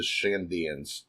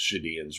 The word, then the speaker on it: Shandians: And then we see the 3 remaining vassals, the Shandians. I just want to assume the N is silent because Shadians rolls off a lot better. The N is not silent.